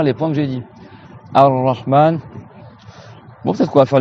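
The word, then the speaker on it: الرحمن: Donc là, Ar-Rahman, il y a deux ra. On prolonge le A.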